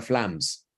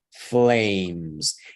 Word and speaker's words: flames: Por eso no se pronuncia flams, ni flames, ni flamis, ni nada por el estilo. Se pronuncia flames. Y le daría a usted la impresión de que esta es muda, pero no. Esa ayuda a la que la otra suene como la vocal del alfabeto, flames.